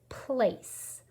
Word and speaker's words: place: 4 sounds, but 5 letters. How do we get the A sound? A consonant E, but there's no S in this word, place. It's a soft C. That E has 2 jobs. It hops over, makes the A say A, and it makes the C say S, place.